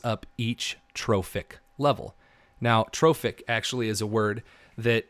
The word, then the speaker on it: trophic: each trophic level now trophic actually is a word that again means feeding so it's spelled like trough TR o pH but it has an IC at the end so it's trophic it's food related so